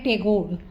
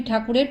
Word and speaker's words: ঠাকুর: তাই গ্রামের মানুষ তাদের ঠাকুর বলে ডাকে সাহেবরা সঠিক উচ্চারণ করতে পারে না বলে তারা বলে টেগোর কুশারী ও পীরালি পরিচয়